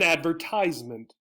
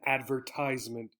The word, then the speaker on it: advertisement: where you are so typically in the u.s this is an advertisement you might see it on tv and advertisement in the united kingdom and some other places it might be advertisement okay advertisement so again